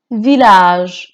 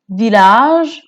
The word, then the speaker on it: village: village village হচ্ছে গ্রাম। ভিলাজেও double এলটা pronounce করা হবে।